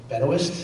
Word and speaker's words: Benoist: uh I think U I think uh Melissa Benoist is that how she pronounce Ben actually actually yeah she's in a